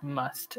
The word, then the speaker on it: musth: unique reproductive period called must and it's spelled m-u-s-t-h but in english we pronounce it just the same as we would write it without the h so m-u-s-t it's this